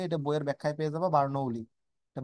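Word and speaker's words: Bernoulli: থাকে করতে থাকে এটা বইয়ের ব্যাখ্যায় পেয়ে যাবা বার্নোলি এটা বার্নোলি বার্নোলি উচ্চারণটা এরকম বার্নোলি গ্যাসের গতিত্ব অনুসারে অনুগুলোর সংঘর্ষ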